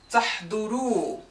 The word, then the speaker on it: تحضروا: For أنتم and whom, for the un, we will lose the nun and instead we'll have a silent alif. We will not even pronounce it. I don't know why it's there. You have to write it down. You will just pronounce the long vowel U.